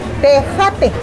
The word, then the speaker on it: tejate: Tejate. Tejate. Es como la tecate, pero es con J. Tejate. We're gonna try some, not tecate, tejate.